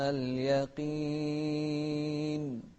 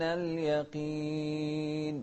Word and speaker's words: اليقين: كلا لو تعلمون علم اليقين. شوف اليقين، ما قلنا اليقين ولا اليقين، لا اليقين. قاف مكسورة ما تستحمل أن نفخمها ولا أن ننطق فيها كاف، لا علم اليقين.